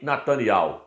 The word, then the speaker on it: Netanyahu: Muitos falam Yarro no final. O nosso presidente Jair Messias Bolsonaro pronuncia corretamente. Ele fala Benjamin Netanyahu. Ele pronuncia corretamente.